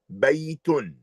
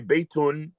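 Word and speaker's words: بيتٌ: You must emphasize the ya a little bit. Baytun. We say baytun, it's not clear that there is a ya there.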